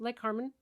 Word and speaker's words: Lake Cormorant: Like Lake Cormorant is pronounced Lake Carmen down there.